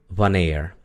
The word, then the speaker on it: wanneer: Si ahí hubiera solo una E entre la N y la R, se pronunciaría ner. Pero como hay dos y es una sola sílaba, se pronuncia near. ¿Ok? Entonces decimos wanneer. ¿Cuándo?